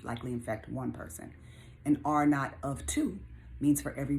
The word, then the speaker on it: R naught: like a zero right pronounced are not like not for naught right not like a knot and tie but the r naught